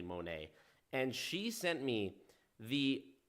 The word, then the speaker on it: Monat: in the company called Monet some people pronounce it monat but as far as I know it is actually Monet and she sent me